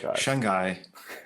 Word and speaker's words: Shanghai: spend like ten years ago yeah it's actually pronounced Shanghai okay I see Shanghai yeah shun guy yeah so anyway we're not here to learn